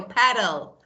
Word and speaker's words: petal: No, petal. Petals. Say? Petal. Petal. Paddle. Yeah, very. It's just like paddle.